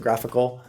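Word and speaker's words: GraphiQL: used a tool called graphic cool that's a GRA pH IC ool sometimes we pronounce it graphical it's a nice UI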